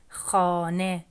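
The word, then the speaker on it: خانه: Letter H sometimes is pronounced as H, like here in Kuh, and sometimes it's pronounced as E, like Khane.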